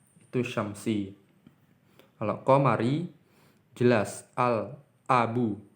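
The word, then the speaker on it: الأب: Al-abu. Huruf a-nya ini terlihat jelas. Huruf la-nya ini didengar dengan jelas, diucapkan dengan jelas. Al-abu.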